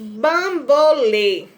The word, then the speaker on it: bambolê: será agudo cipó o bambolê bambolê a sílaba mais forte lê o som é aberto ou fechado fechado então teremos o acento circunflexo ambulância lance ambulância lan